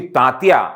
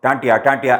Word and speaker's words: तांतिया: हो जाता है ये, क्योंकि तांतिया उनका एक्चुअल नाम था और ब्रिटिशर्स जो थे उच्चारण में तांतिया को टांटिया ऐसा बोला करते थे वो।